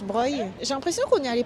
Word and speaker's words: Broglie: et la place Broglie. Que Morgane dit que ça se prononce Breuil.